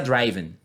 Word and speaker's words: driven: ser sempre fechado então um erro que muitos alunos cometem é por exemplo aqui né memoriza que se escreve dessa maneira aqui Dr r i v e né v e pronuncia driven né ridden não né sempre o som vai ser fechado ou seja driven ridden risen written feito esse comentário vamos